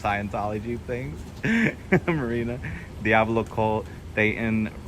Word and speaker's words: Dayton: Marina, Diablo Colt, Dayton rhymes with Satan.